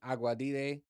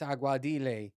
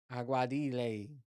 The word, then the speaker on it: Aguadilla: if we land in aguadite um I keep saying it wrong every time it's aguadile aguadile okay so if we land